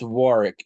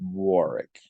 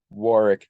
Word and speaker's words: Warwick: do his things it's Warwick you sound like such a Yankee it's pronounced Warrick Warwick Davis all right anywho